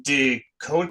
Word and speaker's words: DeGoe: Today I'm here with John Deote. Can you pronounce your last name so I don't butcher it? My last name is pronounced Doody, not how it's spelled.